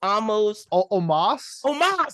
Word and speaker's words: Omos: Is it almost? Omos? There we go.